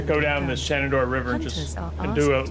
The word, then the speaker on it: Shenandoah: She did say Shenandoah, so she is saying it correctly.